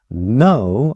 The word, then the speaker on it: know: know, 알다 이런 뜻이에요. 알다. know가 아니라 그냥 know예요. 앞에 있는 알파벳 K는 발음이 되지 않습니다.